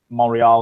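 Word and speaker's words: Montréal: I think similarly to what we saw with Montreal last year. That was the French pronunciation of Montreal for all you Francophiles out there.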